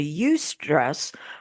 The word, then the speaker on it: eustress: And so we get subconscious agreement that we give that stress, we turn it from distress into eustress, which is spelled EU and the word stress, which means stress that can actually work for us.